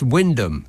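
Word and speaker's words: Wymondham: any help and Chris says why mondom is pronounced Windom you're welcome well why is it got so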